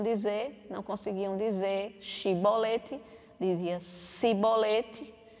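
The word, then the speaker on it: shibboleth: o que quer dizer chibolete né a prova simples só queria dizer espiga de milho mas eles falavam em outra forma com s cebolete eles não conseguiam falar da mesma forma que é jefter pronunciava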